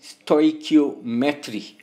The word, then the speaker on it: stoichiometry: I normally pronounce it stoichiometry, right?